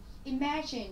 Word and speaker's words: imagine: Imagine thì chúng ta sẽ có động từ trọng âm 2 này.